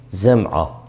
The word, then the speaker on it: Zem'a: Birincisi Abd bin Zem'a. Yani meşhur birisidir. Abd bin Zem'a. Yani Zeyle telaffuzu, Zal değil, Zem'a.